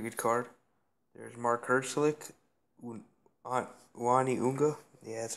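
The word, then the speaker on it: Uani 'Unga: Uani Unga.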